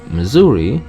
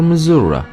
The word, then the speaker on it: Missouri: Lebanon is Lebanon hell even Missouri is pronounced in two different ways Missouri or Missouri the notorious 1949 exist